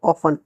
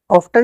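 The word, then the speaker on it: often: We travel ऑफन, ऑफ्टन नहीं बोलते इसको, इसको ऑफन बोलते हैं, यहाँ टी साइलेंट है।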